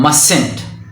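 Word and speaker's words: mustn't: सही तलफुस का बनता है मसेंट। यानी के the ending sound of that short form of मस्ट not would be मसेंट ending in टी एंड the spelling would be एम यू एस टी एन एपॉस्टोफी टी।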